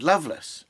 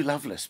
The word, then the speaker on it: Lovelace: poems by Sir Richard Loveless um it's written love lace but pronounced Loveless and um I certainly